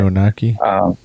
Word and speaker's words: Anunnaki: And they treated him just like a regular human being because the Anunnakis, I think I'm saying their name wrong, by the way. Anunnaki. Yeah, Anunnaki, that's how you say it.